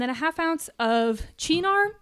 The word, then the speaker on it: Cynar: a half ounce of cheenar cynar i've heard it pronounced different ways um it's